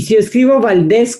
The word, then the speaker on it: Valdez: y si es vivo valdez con z lleva tilde no lleva tilde porque es palabra aguda y no termina en vocal n o s s exacto ahora que